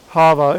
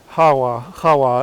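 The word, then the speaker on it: חַוָּה: And these powers are led by the serpent that deceived Hava in the garden, or probably as we should pronounce it, Hawa in the garden.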